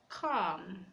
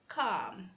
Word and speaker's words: calm: come to letter L letter L is silent when it comes after the vowel a oh and you we have raised like half half calm calm would showed code the